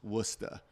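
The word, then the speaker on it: Worcester: And Warchester might be pronounced Wora.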